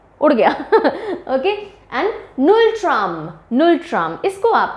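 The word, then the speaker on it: ngultrum: उड़ गया okay and null tram null tram इसको आप ले सकते हैं कि यहां से एन जी यू एल है लेकिन जी साइलेंट होता है नल ट्रम या नटम बोलेंगे तो जो भूत आया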